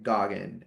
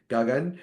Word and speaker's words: Gagan: Gagun is not easy. So when they say that, it just sounds weird to me. And I don't like the way Americans say gagun.